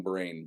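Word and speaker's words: brane: Something brain brain the the cosmology. Yeah. Not but not like this brain. B B R A N E like M M-brain theory basically like the bulk Yeah.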